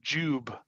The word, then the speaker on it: Jiub: you pronounce jub and most of them said jub like j e WB okay so by the